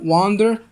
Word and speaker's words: wander: أما التانية wonder، كأنك بص شفت بداية التانية كأنك بتقول 1 بالإنجلش اللي هو رقم 1 1 من غير مد. الأولى wander والتانية wonder، تمام. فخلي بالك في الفرق بالنطق بينهم.